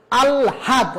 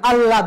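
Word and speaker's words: আহ্লাদ: এ ব্যবহার করতে হবে যেমন আলহাদ আমরা তো আলহাদ বলি না আল্লাদ বলি আল্লাদ ল আর এল এই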